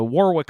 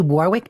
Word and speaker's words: Warwick: is Association is he Warwick Davis or Warwick Davis he's English yeah so I don't think he pronounced w yeah but is it written and just not pronounced is that how that